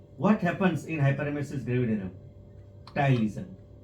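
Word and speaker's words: ptyalism: Ptylism, patylism, psychology, poesophagus. This is the P is silent, so it is ptylism,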